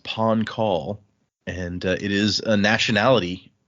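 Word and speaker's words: Pahn Kahl: war breaker it's uh I believe it's pronounced Pon call and it is a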